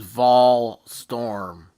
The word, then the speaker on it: Volstrom: name is Vol Storm, like Yeah. Tennessee Vols.